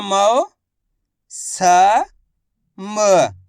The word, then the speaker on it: मौसम: आगे देखिए, मामा की मात्रा मौ, स म।